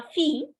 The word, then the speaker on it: fille: La fille, you don't pronounce the double L.